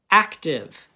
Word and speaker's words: active: So be careful with that IVE, okay? Because that is an exception, right? Just like our closed syllable exceptions. Let's do one that's a two-syllable word. Active. Active. What's my first syllable? Ac. If you did this, that's okay, but it's just the C. Ac. What's my next part? Tiv. Iv. Did you hear that iv?